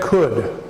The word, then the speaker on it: could: you say that could it's pronounced a little bit differently than what the spelling would suggest it just could it's a case on it could could it would be pronounced could could could we do not pronounce and when we say could we do not try to pronounce the L and the reason the